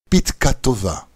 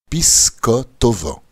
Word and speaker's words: Pitka Tova: À Hoshana Rabbah, nous saluons nos amis avec la bénédiction Pitka Tova. Bonne note, les Ashkénazes prononcent Pisko Tova, pour faire référence à